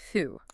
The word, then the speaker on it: thou: And thou, T-H-O-U, pronounced thu.